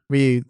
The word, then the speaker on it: Ryu: No, Ryu. Just see him It's punching the actually all pavement. one syllable in Japanese pronunciation.